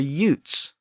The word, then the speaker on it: Jutes: that sound change and it was using the Y pronunciation of Jupiter so for the same reason the jutes weren't the jutes yet they were more like the Utes what was that word